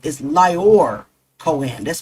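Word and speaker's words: Lyor: His full name is Lor Coen. That's spelled L Y O R.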